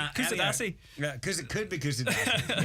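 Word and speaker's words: Kuşadası: It's in the resort of Quesadilla. Is that how it's pronounced? Or is that a food? That's Quesadilla is a food. Kusadasi.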